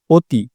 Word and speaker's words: অতি: শব্দের প্রথম অধ্বনির পর যদি ই, উ যুক্ত খ, জ য় সংযুক্ত জফলা ইত্যাদি থাকে তবে সেটির উচ্চারণ সংবৃত বা ওকারের মতো হয়। অতি, অতি শব্দের ক্ষেত্রে এই নিয়ম প্রযোজ্য।